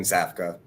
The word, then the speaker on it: Safka: Yeah, that's right. Safka. Zap. Yeah, basically how it's spelled.